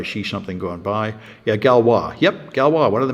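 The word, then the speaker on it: Galois: something going by yeah galwa yep galwa one of the mathematicians absolutely and at least my students corrected me in pronouncing the name it's French it's not Gish apparently it's gwa like I know nothing about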